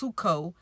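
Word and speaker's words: ψύχω: will wax cold and it's the word psycho but it's it's pronounced suko you know and it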